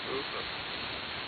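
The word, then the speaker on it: Uwe: Hoover. Hoover? Hoover. Hoover. It's weird. I don't understand. You know, it's U-W-E is how you spell it, but Hoover is how you pronounce it.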